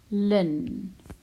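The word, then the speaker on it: ln: two three right so Lin you pronounce it Lynne but you just write the L in the N so the N is for natural logarithm so you have a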